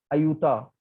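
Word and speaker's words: Ayuta: बाद वाली लाइन है अयुता, तो उसका नाम जो प्रोनाउंसिएशन है वो अयोध्या की तरह ही है।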